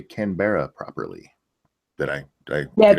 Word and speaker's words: Canberra: Why can you guys never say Canberra properly? Did I Yeah, get it's it wrong? Canberra. Oh, Canberra?